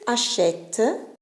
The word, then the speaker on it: achète: Tu achètes. Là, c'est pareil. Il y a l'accent ouvert, achète, parce qu'il y a le E muet.